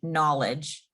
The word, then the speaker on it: knowledge: see like there's a lot of words that have silent letters, like the word knowledge. You would think spelled with an N, but it's spelled with a K.